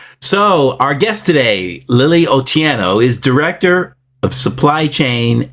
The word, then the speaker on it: Otieno: to strive for that is otieno oh tieno yes okay all right all right so our guest today Lily otiano is director of supply